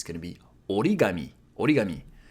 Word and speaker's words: origami: So I know in English we say origami, but in Japanese it's going to be origami.